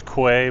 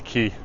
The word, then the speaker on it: quay: Most people will pronounce that as quay, but it's key.